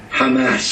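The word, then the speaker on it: חמס: what the word is in hebrew can anybody pronounce that we're reading from right to left hamas hamas one day no longer will hamas be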